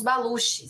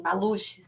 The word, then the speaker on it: Baluch: né que são os baluch Eu não eu não sei pronunciar né em em português ficaria assim baluch né seria a região